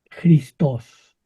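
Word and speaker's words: Χριστός: Es Christos. Oh Christos. To. Jo Christos. Cuesta un poquito trabajo pronunciarlo, pero así es como O se escribe en griego.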